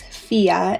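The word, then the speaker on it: Fiadh: But once you know the pronunciation is just Fia and that D and H are silent, I think it's super cute and pretty straightforward.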